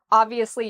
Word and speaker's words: obviously: So we put the stress on the first part, ob, and then we have the V, ob-V, and notice how my lips go under my teeth, ob-V, asli, obviously, obviously.